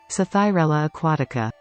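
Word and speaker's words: Psathyrella aquatica: Aquatica sci-fi thorella Aquatica oh man I should have really looked up how to say this before recording uh this is how you actually say it sathyarella Aquatica okay so by the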